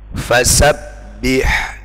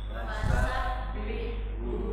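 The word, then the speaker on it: فَسَبِّحْهُ: contoh ini silakan ditirukan fasabbihu dua t fasabbihu hati-hati yang mati huruf ha yang hidup huruf ha harus beda kita ulangi fasabbihu du t sabu harus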